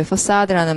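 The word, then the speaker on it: façade: facade라는 말이. 건물의 외관인데, 건물의 face잖아요. 발음이 멋있잖아요. facade. 불어식.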